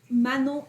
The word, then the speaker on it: Manon: name sounds very French she like man Mano is the right pronunciation yeah it's my sorry